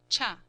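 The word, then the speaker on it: 茶: more modern one, cha, Japanese tea, chiya, pronounced cha.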